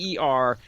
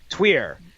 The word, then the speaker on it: Týr: But yeah, from what I could understand, the best way that we could potentially pronounce it correctly is Tweer, and that's Tweer, even though that's not exactly how they're saying it.